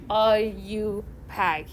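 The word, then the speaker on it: IUPAC: that are you pack and your book you know kind of like wrote the pronunciation for people like me too so i know you know how to pronounce that so it's kind of like i you pack you know anyway so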